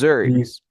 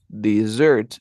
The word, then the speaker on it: dessert: Pero aquí no, esto tiene como una Z y acá es this desserts. Desserts. Desert, dessert, dessert.